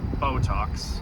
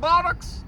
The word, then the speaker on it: Botox: Botox. It's pronounced Botox, but I'll be calling it botocks.